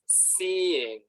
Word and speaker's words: seeing: This is pronounced as seeing, okay? Two syllables. Ya no es una sola sílaba, it's two. Seeing.